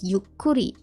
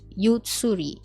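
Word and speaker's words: ゆっくり: thing is a however you hear that the pronunciation is yukuri and not ysuri the reason being this one over here is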